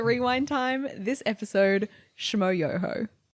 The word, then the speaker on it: Yoho: As you heard in the intro, this week we are covering yoho. Did I say that right? Accent on the yo, right? Yes. Yohooo. Yohooo. Yes.